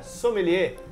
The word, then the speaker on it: sommelier: já ouviu falar somel a gente fala né somelier uma pronúncia som bem faz biquinho faz biquinho assim ó é assim precisa não